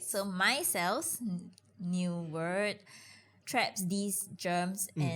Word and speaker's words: micelles: So they're not saying MY space CELLS for everyone listening. They are saying MICELLES. Myself. Right. So micelles, new word, traps these germs and harmful chemicals and dirt from your hand.